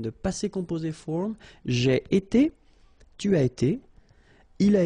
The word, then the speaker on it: été: itself every time, and it's pronounced like été. Été.